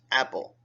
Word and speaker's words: Apol: "I am Apol, pronounced apple, but spelt Apol."